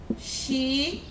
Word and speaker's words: xícara: Xícara. Sem muito esforço, eu consigo identificar que o xi, por ter acento, obviamente, é a minha sílaba tônica que eu estou procurando.